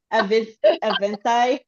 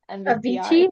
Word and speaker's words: Avicii: Avinci. Avicii.